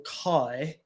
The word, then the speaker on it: chi: And the X is also um pronounced as a chi or kai.